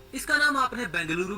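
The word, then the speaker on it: ಬೆಂಗಳೂರು: में इसका नाम आपने बेंगलुरु भी सुना होगा क्योंकि कन्नड़ भाषा में इसे बेंगलुरु प्रोनाउंस किया जाता है यह शहर कर्नाटक राज्य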